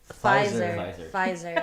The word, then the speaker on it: Pfizer: Pfizer. It's a German word. Yeah. Pfizer. The P silent.